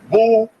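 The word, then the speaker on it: Boulé: go to the Boule picnic known as Bole pronounced Bole the group is here see Bole ble b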